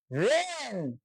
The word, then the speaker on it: reign: IGN থাকায়, এস এর পরে IGN থাকার কারণে এখানে আইন উচ্চারণ হয়েছে ফাইন, কিন্তু এখানে জিটার উচ্চারণ হয় নাই। রেইন, REIGN, রেন, শাসনকাল।